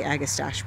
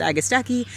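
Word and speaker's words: Agastache: which is an agastaki I always say agustache but I've learned that it's I think it's supposed to be pronounced agastaki there's a yarrow coming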